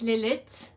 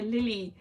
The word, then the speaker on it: Lilith: gene that's so funny my name is lilit and so sometimes people they kind of think you don't pronounce the ending so sometimes i just hear lily and i i remember